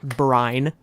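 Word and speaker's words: Bryne: of the compulsion uh we're getting Gareth Brin but they're pronouncing it bran okay Gareth Brian I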